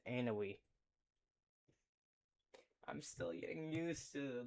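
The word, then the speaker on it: Ounahi: Vaneka to Van Djk headed by Hakeime Robbie the young fowls anaoui. No, it's Anoi.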